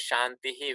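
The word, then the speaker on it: शान्तिः: so in this case because of the accent the pronunciation is changed becomes a little longer in classical Sanskrit which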